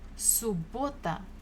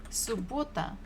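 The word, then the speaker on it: суббота: after half the day subota so we have double b but we pronounce it only one time subota subota Saturday next one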